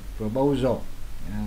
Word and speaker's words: proposal: Proposal, nhấn lần hai.